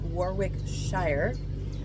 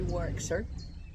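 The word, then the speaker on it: Warwickshire: looks like it's pronounced Warwick Shire, but you don't pronounce the second W and you kind of um meld the N. So it would be Warickshire Canal.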